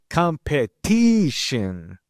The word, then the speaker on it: competition: In English, for instance, the stress is placed before the suffix. So we say competition.